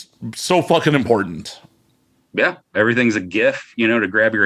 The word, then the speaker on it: GIF: back in the day no it's a gif it starts with a g i don't care if